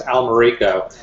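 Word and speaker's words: Almerico: people mispronouncing your name it's actually pronounced Al Mariko and for the last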